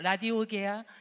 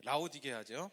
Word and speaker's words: 라오디게아: 이르되 내가 보는 것을 두루마리에 써서 에베소, 서머나, 버가모, 두아디라, 사데, 빌라델비아, 라디오게아 등 7교회에 보내라 하시기로. 예, 라오디게아죠. 예. 자, 7교회는 가끔 보면 이렇게 발음이 꼬일 때가 있어요.